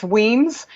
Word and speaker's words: Wemyss: or spell or pronounce so it's Wiens w e my SS with an IE